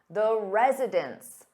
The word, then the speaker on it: residents: But when you have an s on that noun meaning more than one, it sounds exactly the same as residence.